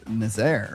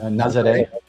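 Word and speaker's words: Nazaré: Yeah, and before we get on to that, though, let's talk about Nazaire, or how do you say it? Nazare.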